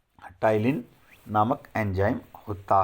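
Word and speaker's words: ptyalin: और सलाइवा में टाइलिन नामक एंजाइम होता है। आपको ये भी याद रखना है। और भाई स्पेलिंग भी पूछी जाती है, पी साइलेंट है इसमें।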